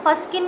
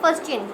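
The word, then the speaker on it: fuscin: अब जो लाइपोफस्चिन, अच्छा बेटा आपने इसको फस्किन नहीं पढ़ना, प्रोनाउंसिएशन ही अगर गलत होती है तो बहुत ज़्यादा गलत इंप्रेशन जाता है। फस्चिन, ठीक है।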